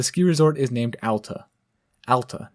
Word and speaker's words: Alta: Alta, Not Ahl-ta. Alta.